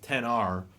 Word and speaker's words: X: just everybody called it the X even though it was pronounced 10 and now there's two